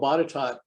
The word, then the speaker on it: Botetourt: First of all, Botetourt, that is the correct pronunciation from it, by the way. It looks like it should be different.